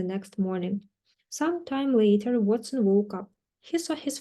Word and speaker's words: Watson: Watson читается Watson на английском.